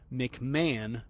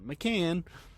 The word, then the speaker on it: McMahon: A guy named Eric McMahon, that's spelled with a CH, so E-R-I-C-H, McMahon, not McCann.